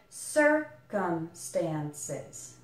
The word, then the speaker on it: circumstances: end Stan says circumstances there's a little secondary stress on the stand syllable so you can think of it like circumstances circumstances and what I suggest